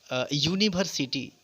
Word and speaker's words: university: Just as you see, university, u is vowel, but the pronunciation of this, the sound it produces is ya, Hindi ya, u, which is consonant.